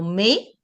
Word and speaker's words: mais: If you find them at the end of the word, you never pronounce. Okay. So mais, thank you, but.